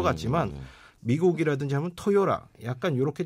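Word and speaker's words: Toyota: 이제 실제 들어보면 토요타라고 하지 않고 토요라 약간 이런 식으로 발음이 됩니다.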